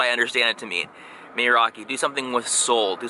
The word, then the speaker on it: meraki: Meraki.